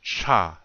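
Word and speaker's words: ča: It says cha. You see that? The C with the circle over it, and A. That's cha.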